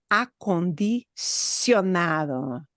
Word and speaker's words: acondicionado: Acondicionado. Sionado. Yeah. Acondicionado. Acondicionado. I'm trying to highlight the part that's hard. Here's the syllable, and look at how many syllables.